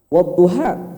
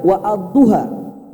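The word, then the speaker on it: والضحى: Wadduha misalnya. Ini alif, bukan hamzah. Karena kalau hamzah kita harus baca wa ad-duha.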